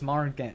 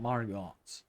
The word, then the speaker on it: Margit: It's Margit, it's not Margot.